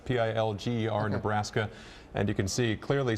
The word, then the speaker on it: Pilger: This is near Wisner, and earlier was it Pilgrim, Nebraska? Pilger, Nebraska. Forgive me if I pronounce it wrong, but it's Pilger, Nebraska.